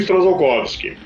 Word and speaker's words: Strzalkowski: pronuncia esse sobrenome para tem gente que pronuncia esse t kovsky ou t kovsky ignorando s o pronunci esse eles ignoram bastante letro bom eu aqui pronuncio strzalkowski e é um sobrenome